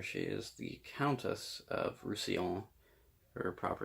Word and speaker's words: Roussillon: And I had to like pay attention every time I read it because I kept trying to read it as Rassilon from Doctor Who.